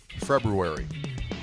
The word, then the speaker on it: February: yes the hours before the U it is February anyway you know not everything in the English language though is pronounced like it's spelled I think this is